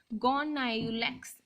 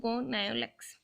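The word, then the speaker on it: Gonyaulax: और रेड डाइनोफ्लैजेलेट गोनायुलेक्स, आप जैसे भी इसके प्रोनाउंसिएशन करना चाहें आप देख सकते हैं, मैं तो इसको गोनायुलेक्स बोलती हूँ।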